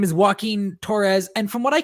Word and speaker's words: Joaquin: Okay, so Joaquin. It's because it's spelled like Joaquin Phoenix.